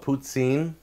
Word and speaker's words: poutine: Some of the French call it poutine. There's an S sound in the middle of it. However you want to pronounce it, I'm going to say poutine because that's how it's spelled in my dictionary.